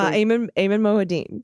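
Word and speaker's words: Ayman Mohyeldin: Eamon Moadine.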